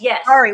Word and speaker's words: Kari: So Kari, it's pronounced Kari? Yes. Kari.